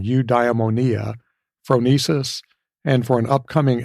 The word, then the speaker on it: eudaimonia: to pronounce old Greek words like eudaimonia oopsie I got that one wrong you diamonia phronesis and For an